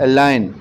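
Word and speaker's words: align: फिर है अलाइन, इसमें G साइलेंट है।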